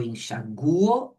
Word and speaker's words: enxaguo: É o U que é forte, ó. Eu averiguo e eu delinquo. Então, o forte é esse U, ó. Eu enxaguo, eu averiguo, eu delinquo.